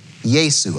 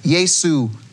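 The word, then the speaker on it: Iesu: The Latin Vulgate in chapter 1, verse 1 would be Yesu, capital I-E-S-U. Yesu. Again, so you have Yesu chapter 1, verse 1 in Greek.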